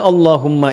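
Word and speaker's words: اللهم: Maka adabnya ketika diucapkan Allahumma itu jangan meninggi.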